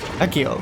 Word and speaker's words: Accio: Akio. Accio. Akio. I pronounced it right.